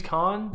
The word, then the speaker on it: Caan: James Caan. Caan. The Wrath of Khan.